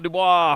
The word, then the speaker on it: Dubois: James Quick Draw Dubois out of Moto. That's Dubois because it rhymes with Quick Draw.